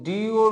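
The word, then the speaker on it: do: আমরা ডু দিয়ে করি। এখন যেমন গোর উচ্চারণ কি হয়েছে? গো হয়েছে না? কিন্তু ডিওর উচ্চারণ কিন্তু আবার ডো হবে না।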